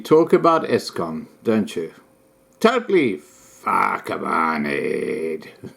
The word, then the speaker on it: PHAKAMANIED: Totally PHAKAMANIED. The emphasis on the second part, moneyed.